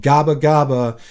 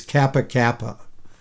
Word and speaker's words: Gabagaba: of the papuan peninsula called gabagaba which the soldiers mispronounced as kappa kappa i'd like to make